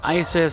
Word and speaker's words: Isis: Yeah, the kingdom is basically pronounced Isis, but I'm going to call it the Oasis Kingdom.